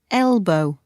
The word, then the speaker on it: elbow: can bend your arm your elbow stress on the first syllable elbow she pushed me with